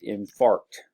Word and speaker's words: infarct: Okay, yes, got to pronounce that carefully. It is infarct.